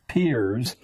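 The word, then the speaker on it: Peirce: has produced he was it's pronounced peers but it's spelled as if it were pierced curls on Spears a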